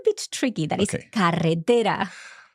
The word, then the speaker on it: carretera: So if you struggle with that one, just as you have done, start with carre, carre, carre, and then tera, tera, tera, and you compound. Together. Carre, carre, carre, tera, tera, tera.